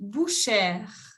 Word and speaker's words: bouchère: Carnicera, en français on dit bouchère. De nuevo se agrega una E después de la E y se pronuncia la R.